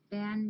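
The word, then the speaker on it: Bynne: I remembered how to say it because it's spelled B-Y-N-N-E, Nels, and Maddie. BW, Ricky, Gracie, Arnie, Zeke, Ben, Nels, and Maddie.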